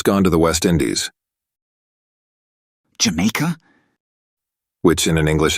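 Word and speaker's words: D'yer Mak'er: on man D maker I don't um Jamaica the title frequently mispronounced as deer maker or even D maker is actually meant to be pronounced J in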